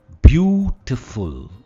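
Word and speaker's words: beautiful: इसे कैसे प्रोनाउंस करेंगे हम कहते हैं ब्यूटीफुल ब्लू पर इसका स्ट्रेस है ब्यूटीफुल हम ब्यूटीफुल नहीं कहते इसमें फूल नहीं है फल है ब्यूटीफुल सेकंड वर्ल्ड एलिफेंट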